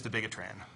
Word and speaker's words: dabigatran: The correct pronunciation is dabigatran.